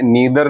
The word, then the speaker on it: neither: അതിനെ നീദർ നോർ എന്ന് പറയാം, അല്ലെങ്കിൽ നൈദർ നോർ എന്ന് പറയാം. രണ്ട് ഉച്ചാരണങ്ങളും കറക്റ്റാണ്.